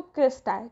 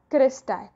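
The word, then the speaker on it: cristae: अलग अलग प्रोनाउंसिएशन होते हैं, लेकिन मैं बोलती हूँ इसको क्रिस्टाई. ठीक है, ये जो इसके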